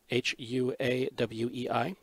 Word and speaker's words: Huawei: That's a Huawei, Huawei. That's how you spell, how you pronounce that, at least in English.